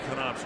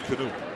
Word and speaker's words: Knoop: Now, did you follow him closely enough where you would have pronounced Bobby Knopp's name correctly? Or would you have said Bobby Knoop? No, Knopp. You would have said Knopp.